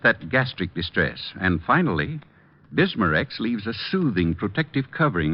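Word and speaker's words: Bisma-Rex: slowly ease up that gastric distress and finally bismurex leaves a soothing protective covering on irritated stomach membranes well i'll have to remember that bismurex is that how you say it that's right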